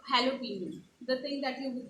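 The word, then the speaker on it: jalapeño: considered as j however since it's a spanish word you pronounce j a as h so it's halloween right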